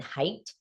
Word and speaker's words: Haidt: Haidt, who is actually, I think it's pronounced Jonathan Haidt, spelled Haidt, Jonathan Haidt, who is the author of, among other books, The Anxious Generation.